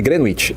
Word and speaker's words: Greenwich: O meridiano de Greenwich seria onde começa o horário. Então, como a gente está 3 horas atrás, se não tiver horário de verão, do meridiano de Greenwich, é assim que pronuncia, Greenwich.